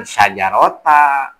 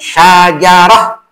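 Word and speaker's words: شجرة: syajarotan itu ya saajaratan Nah itu dibacanya jangan sajarota jangan gitu kan Jangan dibac jangan sajarota gitu kan Nah cukup syajarah cukup aja gitu jangan mentang-mentang di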